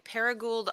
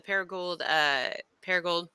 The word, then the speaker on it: Paragould: I will be in Paragould, Arkansas. I can't believe I could say it correctly. I'm making an appearance at the Paragould.